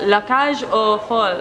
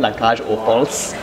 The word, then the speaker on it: La Cage Aux Folles: on 20th July called La Cage Aux Folles. Am Very I pronouncing good. That? Yes, yes? Perfect. Thank you. A lot of people like put the S at the end, La Cage Aux Folles.